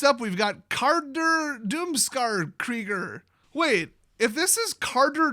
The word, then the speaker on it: Krieger: Because I know a lot of people with the last name of Krieger, and that's some funny shit. And also they pronounce it Kruger, which is completely incorrect.